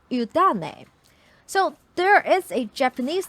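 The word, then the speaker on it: 湯種: And in fact, it is a Mandarin word because the Japanese pronunciation for this two kanji it's udane.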